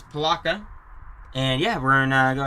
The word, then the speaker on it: Palatka: Just wanted to double check I was pronouncing that right there. It says Palatka.